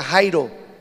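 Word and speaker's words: χαίρω: La palabra regocijar significa, en griego se pronuncia jairo, estar alegres, feliz, contentos.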